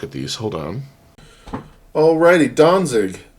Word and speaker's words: Danzig: these hold on alrighty donzig now donzig it turns out is really good dance uh and it's Danzig in German it's a port city